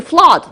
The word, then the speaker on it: flood: fall down so the flood the flood is an interesting word because it's like blood where you can see double o but you pronounce it like ah so flood is um